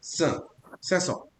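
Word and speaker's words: cinq cents: और इंडिविजुअली से 5 को पढ़ते हैं अपन सैंक, बट फ्लुएंसी में, प्रोनाउंसिएशन में ये सैंक का बन जाता है सैसो। अगर 1000 पे अगर मानते हो, फॉर एग्जाम्पल ये नंबर है 5075, तो मैं सैंक मील की जगह पढ़ूंगा सेमील।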